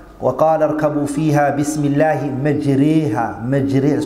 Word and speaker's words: مَجْرِيهَا: وَقَالَ ارْكَبُوا فِيهَا بِسْمِ اللَّهِ مَجْرِيهَا مَجْرِيهَا, that's Imala. That is called Imala. So you don't say as a fatha nor a kasra. It's a way in between.